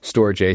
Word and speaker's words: Storj: by store J it's SJ um some people pronounce it storage but we say storage so many times that it's gets confusing so stor J so we have an integration with with storj